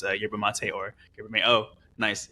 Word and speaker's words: Yerba Mate: Yeah, first off, like I'm so glad you pronounced it Yerba Mate.